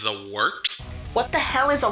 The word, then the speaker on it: Wort: This is The Wort on Govs Radio. It is the Wort. Not warts, not forts, not short.